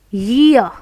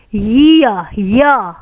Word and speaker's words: year: Year. Important word. This is not ear. This is year. Year. Again you will observe before ra, if there is vowel sound, ra is silent.